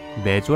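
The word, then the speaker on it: mezzo: 피아노와 포르테 앞에 붙은 앰 은 내조 라고 읽으며 매주 는 이탈리아어로 절반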